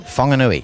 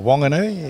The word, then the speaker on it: Whanganui: Whanganui. Or Wanganui. Yeah. That's just another place that Fletch can learn how to pronounce.